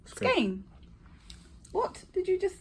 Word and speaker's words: Skagen: We've been pronouncing it. Skaggen. Skagan. Skean. But in the talk yesterday, the lady said it is pronounced skain.